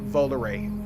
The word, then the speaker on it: Volare: And shout out to all the people that told me it's pronounced Volare.